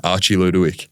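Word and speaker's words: Archie Ludowyke: Archie Ludowick.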